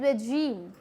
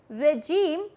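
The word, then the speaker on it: regime: जैसे कि यहाँ पे है वर्ड है रेजीम। रेजीम, लोग इसे बोलते हैं रजीम या रिजाइम।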